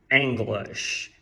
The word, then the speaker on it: English: Bom, e aí eu poderia te ensinar a pronúncia dessas duas palavras. E ok, vamos lá. Em inglês se diz English.